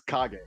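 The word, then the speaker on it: Kage: since I was like seven or eight it's KAG yeah but either way um so this game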